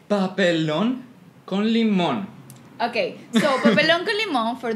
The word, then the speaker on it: Papelón con Limón: Papa Don come on how do you pronounce it again Jose pop alone con limón okay noble uncle Imam